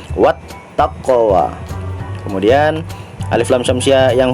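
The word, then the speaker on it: وَالتَّقْوَى: huruf selanjutnya adalah Ta Maka cara membacanya adalah What bukan wall takwe tetapi dimasukkan wattaqwa kemudian alif lam syamsiah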